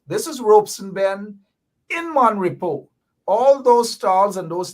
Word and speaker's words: Mon Repos: to describe this is mon repo mainly mind you mon repo and not mon repose the s is silent gosh i've become a